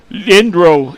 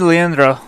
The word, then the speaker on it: Leandro: nine aidan indro and we apologize on the pronunciation we had a hard time last week with his brother playing the quarterback position but that's uh the other brother there number nine adrian adrian lindro it is leandro so yeah i know